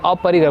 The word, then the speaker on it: अपरिग्रह: और अपरिग्रह, शुद्ध उच्चारण कीजिए। अपरिग्रह, कोशिश कीजिए, इस पे नंबर नहीं कटेगा।